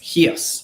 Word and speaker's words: Chios: uh taki said the island of chios is pronounced yes right yeah right ch so fred see says